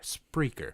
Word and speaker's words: Spreaker: puttin how it's spelled SP P as in Peter r e EI k ER spreaker like speaker with an arthur with an r kidding speaker spreaker pickles